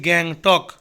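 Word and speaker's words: Gangtok: বাজার স্টেট বলা হয় সিককিম সিককিমের রাস হচ্ছে গ্যাং টক গ্যাং টক জি এ জি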